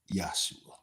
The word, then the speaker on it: Yeshua: It's pronounced Yesua. In English you say Joshua.